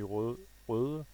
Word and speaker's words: Røde: But this company Røde, that's how it's pronounced. It's a Danish letter actually. The Ø. It's an O with a slash in the middle of it.